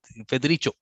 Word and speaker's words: Federico: I'm just thinking that, do I pronounce it correctly? Is it Federico or is it Federico?